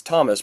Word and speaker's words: Tomasz: Tomasz, so it's Thomas, but there's no H.